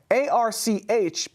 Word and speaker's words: Arch: Turns out that SpaceIL will be flying an ARC unit from the ARC Mission Foundation. That's ARCH, but pronounced ARC.